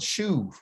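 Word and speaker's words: שוב: That B gives you a V sound, shuv, okay?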